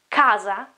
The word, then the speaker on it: casa: Or again, house, it is casa, casa, k, casa, cane. You can see that it is k, it's not ch.